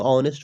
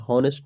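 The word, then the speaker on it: honest: देखिए, इसको ऑनेस्ट पढ़ा जाता है, हॉनेस्ट नहीं, ऑनेस्ट। ओके, इसमें जो साइलेंट होता है क्या होता है? एच होता है जो क्या होता है? साइलेंट होता है, ऑनेस्ट।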